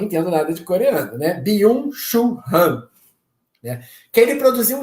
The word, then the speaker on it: Byung-Chul Han: Chamado, se eu pronunciar errado, tá, gente? Que eu não entendo nada de coreano, né? Byung-Chul Han, né?